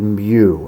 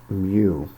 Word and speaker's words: mu: given here it's denoted mu it looks like a u it rhymes with u but it is actually the greek letter mu and again you're adding